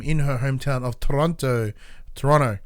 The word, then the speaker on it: Toronto: her hometown of Toronto Toronto you don't pronounce second T and it's a court